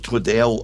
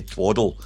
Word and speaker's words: Twaddell: But I know it's Twaddell, and if I slip and say Twaddle, there's a reason behind it and I'll explain the reason.